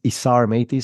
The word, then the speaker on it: Isar Meitis: active on LinkedIn so uh my name is isar matis so it's i-s-a-r-m-e-i-t-i-s and yes I have to spell it and pronounce it every time but the